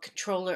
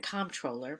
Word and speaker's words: comptroller: the race for comptroller it can be pronounced both controller and comptroller but I'm going to